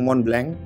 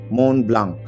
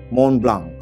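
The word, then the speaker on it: Montblanc: Tapi karena jam tangan ini perusahaan Jerman, jadi setiap hurufnya itu harus dibaca, jadinya Mont Blanc. Di belakangnya ada K sedikit, gue ulang, Mont Blanc.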